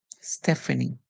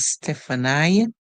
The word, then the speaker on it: Stephanie: hear this word as stepani you know that the in E they are pronouncing it as I but in English popularly this name would be called Stephanie so the e sound would be used okay our next word